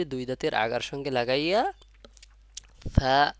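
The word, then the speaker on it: ث: হরফ ছা আলিফ ছা তিন নুক্তা ছা উচ্চারণ হয় সার মাখরাজ হলো জিহ্বার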